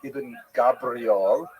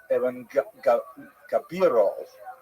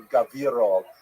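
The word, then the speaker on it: Ibn Gabirol: pointed out to me it's not Iben Gabriel, it's Evan Gabiro or Gaviro.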